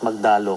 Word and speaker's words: Magdalo: And by the way, we pronounce it Magdalo kasi kasi yung magdalo kay kila Aguinaldo yan eh.